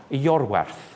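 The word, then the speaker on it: Iorwerth: Yorwerth. That's good. Now, while we're at it, how do you pronounce the first word?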